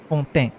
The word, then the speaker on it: Fontaine: It's Fontaine, right? It's got a little French.